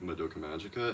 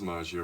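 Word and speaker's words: Magia: or anything or like Maga and haven't seen Maga record please see it or is it Maja record excuse me yeah it is Maia record and I hope I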